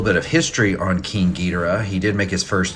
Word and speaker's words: Ghidorah: I choose to go with the pronunciation King Ghidorah, since that's more derived from the original Japanese pronunciation.